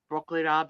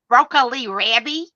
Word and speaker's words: broccoli rabe: how do you say it? Broccoli rabby? No, broccoli rab, yeah.